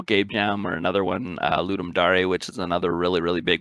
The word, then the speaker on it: Ludum Dare: So it's Ludum Dare, Ludum Dare, Ludum Dare.